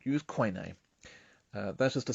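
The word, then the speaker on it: Koine: Roman period or as we should call it Kunie because that's how it's pronounced in coin name since wordplay is important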